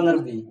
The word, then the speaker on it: nearby: Fitur nerbi. Nerbi apa nerbay bacanya? Nerbi. Karena belakangnya kan Y. Kalau belakangnya I baru nerbay.